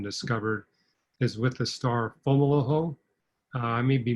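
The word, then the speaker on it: Fomalhaut: that's recently been discovered is with the star fomolo i may be mispronouncing that f-o-m-a-u-l-a-u-t it's a first magnitude star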